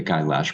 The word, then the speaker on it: Kailash: about the kailash model the kailash by the way kailash rhymes with eyelash that's named after mount